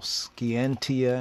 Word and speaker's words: scientia: science what is science scientia scientia or skianti if we go back to Latin it means knowledge to know skientia and the old Latin Martin oxfordian acts 40 in pronunciation latter English pronunciation scientia a kind of a